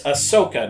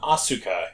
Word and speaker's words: Ahsoka: Yes, it's Ahsoka, not Asuka.